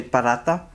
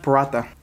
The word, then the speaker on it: paratha: actually corrected me because I used to say burrata and if anyone who is like native please correct me if I'm wrong but he told me it's pronounced pirata so correct me if